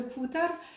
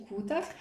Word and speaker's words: Kuutar: C'est le Kutar Wrap de Sari Nordlund. Donc le Kutar, c'est comme ça qu'elle le prononce. Hein. J'ai regardé une de ses vidéos et elle dit Kutar.